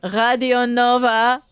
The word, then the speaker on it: Radio Nova: I believe that you should be listening to Radio Nova, or as it's pronounced in France, because it is a French radio station, Radio Nova.